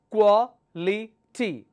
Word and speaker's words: quality: ends with Ty quality now how many syllables I have here quality so the the third one from the end we'll take the stress quality okay the next